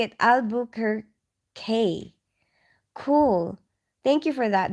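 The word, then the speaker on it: Albuquerque: oh you're telling me how to say it aluk her K cool thank you for that the Duke City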